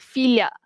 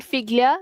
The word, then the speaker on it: figlia: Kalau ibu bapa ada anak perempuan, okey doktor kita panggil filia. Filia bukan figlia.